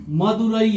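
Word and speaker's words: मदुरै: से चल सकता है, लेकिन शुद्ध प्रोनाउंसिएशन में क्या होगा? मदुरई। वैसे इसमें जो कोकई भी लिखा हुआ है, लेकिन आपको क्या याद रखना है?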